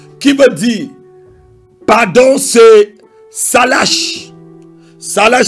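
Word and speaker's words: סלח: Le troisième mot grec, pardon, je dois dire hébreu, qui veut dire pardon, c'est salash. Salash s'écrit S-A-L-A-C-H.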